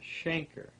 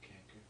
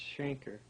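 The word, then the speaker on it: chancre: Well, they they pronounce it shanker, so we probably were mispronouncing it, too. I've always pronounced it cananker. Mhm. That's supposed to be pronounced shanker.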